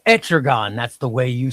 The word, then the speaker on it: Etrigan: Like, is it pronounced Etrigan or Etrig? No, Trigon is No, I'm not Trigon. No, I know it's not Trigon. Is it Etrigan? Etrigan the demon. Etrigan. That's how you say it.